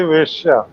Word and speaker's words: वेश्या: और कर्ण कहता है द्रौपदी तो वेश्या है, इसको एक मात्रा लगा के बोलेंगे वेश्या। वेश्या नहीं कहेंगे, गलती से लोग गलत प्रोनाउंसिएशन कर देते हैं। वेश्या कहेंगे तो वैश्य वर्ण की स्त्री हो जाएगी। वेश्या जब हम गणिका के लिए कहेंगे तो एक मात्रा वेश्या।